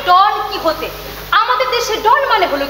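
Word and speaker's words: Don Quijote: একটু আলাদা যেমন সার্ভে ডন কুইক আরে না না উচ্চারণ হবে ডন কি হতে আমাদের দেশে ডন মানে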